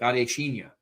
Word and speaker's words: Adeshina: Not like Adesanya, it's like Adesina.